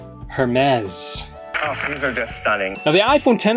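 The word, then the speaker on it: Hermès: keynote that Hermes this apparently pronounced her mez her mez the iPhone 10 R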